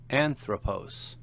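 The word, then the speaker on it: ἄνθρωπος: Anthropose. Man. Notice the accent on the antipenult or third to last syllable.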